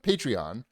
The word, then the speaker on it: Patreon: podcast that is on patreon patreon patreon is how you say it don't patronize me yes depends where right yes